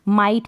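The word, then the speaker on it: might: ऐसे ही इसमें है माइट पढेंगे जी एच को प्रणव नहीं करेंगे क्योंकि पहले यहां इससे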